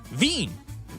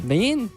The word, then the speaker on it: Wien: And it's that in Vienna they call the city Vin and it's spelled W I E N. Vin.